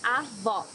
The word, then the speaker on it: Avó: Here you need to hear the sound of the last O in the syllable. It should be an open O, as we say in Portuguese. Avó.